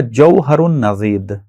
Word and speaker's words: جوہر النضید: ایک کتاب جو اسی لیول میں موجود ہے ہمارے پاس، دوسری کتاب، وہ ہے جوہر النضید، ضاد کے ساتھ، جوہر النضید.